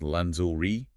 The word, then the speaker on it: lingerie: The N sound is the tricky part. Oh, so it's pronounced lanzuli, and you have to maintain that soft Z sound, similar to the middle